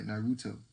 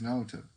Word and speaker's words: Naruto: He'd be saying, instead of saying Naruto, he'd be like Naruto. It's Naruto. It's straight out flat.